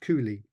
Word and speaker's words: Cowley: But in fact, Burbage died within days of another senior actor named Richard Cowley, sometimes pronounced Cooley.